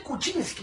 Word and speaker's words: Kuczynski: kucinski Qué complicado es escribir kucinski Cómo se pronuncia su apedido mi mamá por ejemplo dice kucinski como si fuera una chel chavo ella tiene